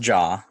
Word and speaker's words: Ja: that is the correct answer yeah so it's pronounced jaw it's not too initial it's not like ja